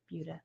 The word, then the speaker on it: Buda: And then on Sunday we kind of wrap it all up, and we're both teaching at Fiber Fate in Buda.